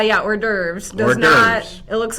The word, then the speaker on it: hors d'oeuvres: It looks different than the pronunciation. Correct, Daniel Barrero. Right. Yeah, hors d'oeuvres.